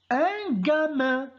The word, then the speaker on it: gamin: fromage de mon suivant un gamin il est suivi de a donc on prononce gay un gamin nouveau suivant une une